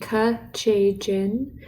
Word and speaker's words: Kechejian: That's pronounced Kechejian.